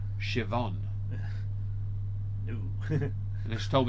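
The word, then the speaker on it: Siobhan: worst one tempy is when it's spelled like that n i a MH and is actually Shon oh sh that's when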